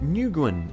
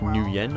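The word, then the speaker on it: Nguyen: his gaze okay hey nin uh no not how you say it's like N I think is how you say it like new Yen I believe I meant to say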